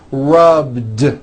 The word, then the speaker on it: rubbed: at the end rub it's not rub with an unvoiced T it's rubed like that here's another example clean